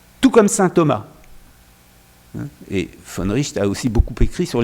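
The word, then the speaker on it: von Wright: Le philosophe finlandais, alors je le prononce comme, je ne sais pas si notre collègue finlandaise est dans la salle, mais Georg von Richt, ça s'écrit von Reit, si on le prononce à l'anglaise, qui est le successeur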